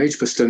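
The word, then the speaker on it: Edgbaston: Birmingham um where I lived uh was called edgebaston that's Ed DG then edgebaston edgebaston edgebaston is a correct pronunciation oh my God yeah no some funny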